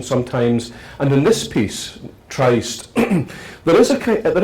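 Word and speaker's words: Tryst: is it Tri or is it trist I just formed a established a new Festival in kumut called the kumut tri and already people are arguing about how how to pronounce it is it the coven trist or the COV trist I've always known it as a trist uh so that's a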